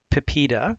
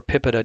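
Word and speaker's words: PIPEDA: and electronic documents Act Pepita or pipita depending on how you'd like to pronounce it came into effect really in stages but mostly by 2002.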